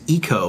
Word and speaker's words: Ico: so you know Tim it's actually pronounced eco by those who care and are extremely pretentious well I'm over here